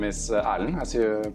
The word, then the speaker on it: Erlend: So my name is Erlend, as you pronounced correctly there.